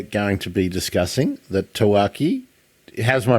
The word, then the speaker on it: Tawaki: penguin that we're going to be discussing the taaki how's my pronunciation taaki is perfect yeahi orak what we knew about